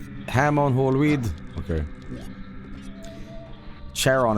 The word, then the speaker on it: Charon: Charon is actually pronounced something like Karen.